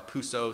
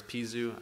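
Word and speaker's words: Peseux: machine pieces for a Puso 7000 series movement. I'd come across, or I guess Pizu, it depends how you pronounce it. I'm kind of in a vacuum here. But to me, it's Puso.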